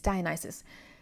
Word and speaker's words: Dionysus: um and also Dionysus because I said that mispronounced his name earlier is Dionysus because I actually think